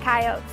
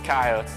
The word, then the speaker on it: Coyotes: Welcome to the home of the Coyotes, and make sure you pronounce it Coyotes. It's Coyotes. It's Coyotes, baby. It's Coyotes, not Coyotes.